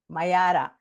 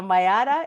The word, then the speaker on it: Mayara: And please help me as I pronounce her name. Is it Mayara? I don't think I could say it properly. Mayara. Mayara. So Mayara is a devoted behavioral holistic nutritionist and a Reiki healer.